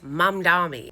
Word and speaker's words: Mamdani: I know it is Mum Dami with an M.